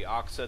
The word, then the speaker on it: aXa: last cast I believe since he's French he would probably pronounce it oxa since there is no a sound in the French uh alphabet anyway let's go and